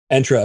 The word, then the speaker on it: Entra: directory and entra ID I pronounce it entra is to take off our head developer Jared entra whatever you want to call it um and we